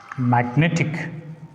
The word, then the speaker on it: magnetic: Magnetic. Magnetic. So we should put the stress on N.